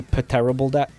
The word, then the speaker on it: pterodactyl: Shouldn't terrible dactyl be spelled with a P, though? Shouldn't it be pterodactyl?